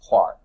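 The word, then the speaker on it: Clerk: the way James Maxwell his middle name is CL e RK but you know the Scotsman's pronounce everything pronounced even though it looks like Clark pronounced Clark in Scottish haze that but there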